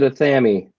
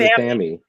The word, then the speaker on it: athame: He said Athame, Athame. which is actually the correct way to pronounce it because that's how they pronounced it in England. In So England, that's how Gerald Gardner and Doreen Valiente would have said it.